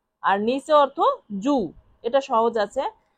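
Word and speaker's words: giù: এর ইতালিয়ান অর্থ হবে জু জি আই ইউ জু উচ্চারণ কি হবে? জু জি আই ইউ জু জু অর্থ নিচে।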